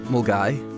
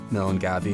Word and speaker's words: Milngavie: Pronounced Milngavie, not Milngavie as you might think, it's probably best known